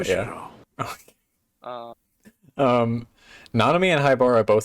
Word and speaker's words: Haibara: So, um, Nanami and Haibara, that's how you pronounce his name? Yes. Yeah, Haibara.